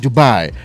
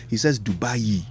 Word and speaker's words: Dubai: doors to international trade opportunities in Turkey and Dubai.